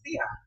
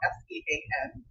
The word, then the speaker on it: Sean: It's spelled S-E-A-N, which a lot of white people pronounce Sean.